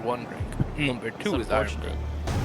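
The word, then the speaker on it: Irn-Bru: It's also spelled completely wrong cuz it's I R N B R U. Iron brew.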